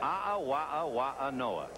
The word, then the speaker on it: A'awa'awa'anoa: How do you spell it? A'awa'awa'anoa. And that's the right way to pronounce it.